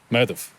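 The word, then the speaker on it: Medb: Mana the mother like so that's Moana next madhav the main villain in the story really she's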